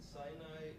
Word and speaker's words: Sinai: was given at Sinai and Sinai is rhymes with the word means means hatred and that once